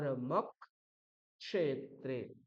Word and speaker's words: ধর্মক্ষেত্রে: তাই অকার রস হলেও পরবর্তী যে ক্ষকার আছে ক এবং স এর মধ্যে যে প্রথম বর্ণটা ককার তার দুবার উচ্চারণ করতে হবে তাহলে কি হবে এখানটা এরকম ভেঙ্গে ভেঙে লেখা আছে ধর ধর্মক ক্ষেত্রে ধর্মক ক্ষেত্রে ধর্ম ক্ষেত্রে তাহলে আমাকে